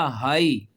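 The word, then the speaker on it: high: हाई।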